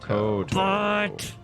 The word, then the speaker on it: kowtow: it Kowtow or Koto? Koto. I would think Koto, But- probably. I'm googling Yeah, I'm on it right now. But Kowtow. Koto. So it is pronounced Koto.